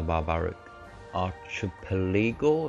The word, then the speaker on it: Barbaric Archipelago: Visit all the islands in the Barbaric Archipelago. That's how you pronounce that.